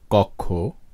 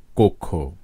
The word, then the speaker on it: কক্ষ: শব্দের শুরুতে যদি স্বাধীন বা ব্যঞ্জনযুক্ত অ থাকে এবং তার পরে যদি ক্ষীয় অথবা জয়জ্ঞ থাকে, তাহলে আদ্য অটি সাধারণত ও বা ওকারের মতো উচ্চারিত হয়।